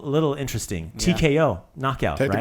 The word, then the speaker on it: tko: So that T it kind of just like flows. Ko. Do I have to pronounce it? So you don't say tko. You just say tko. Like it's got to be like a nice, like a drum roll.